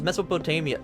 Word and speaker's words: Mesopotamia: first civilization yeah I I always thought it was Mesopotamia no it is Mesopotamia oh my God I just never pronounced that out loud I've only ever pronounced that in my head because the Mesopotamian potaman yeah it's Mesopotamian is what they talk about in like documentaries and stuff Mesopotamian right that's how you pronounce that oh my God